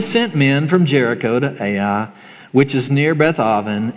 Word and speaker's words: Ai: So this is the story of, I'm going to call it Ai. Some people pronounce it I, and it might sound funny when I say it, just I. So it's going to be Ai today.